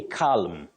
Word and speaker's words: calm: in the day right don't say calm calm no the L is silent you say C